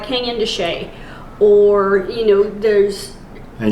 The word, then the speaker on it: Canyon de Chelly: are, you know, like Canyon de Chelly, or, you know, there's. And yes, that's how you pronounce it. Yes, it's not how it's spelled, but that's how it's pronounced.